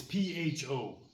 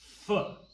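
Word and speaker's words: Phở: Foo. What do you think? Po. Pho. Pho. Foo. Correct answer is B. Pho. Like the beginning of a naughty word.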